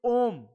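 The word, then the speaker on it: ohm: unit of resistance it ओम unit of आर होता है ओम ओ ओम नहीं है यह ओम नहीं भगवान शिव शंकर नहीं है य समझ रहे हो ओम है ओम ओ एच साइलेंट है यहां पर एच साइलेंट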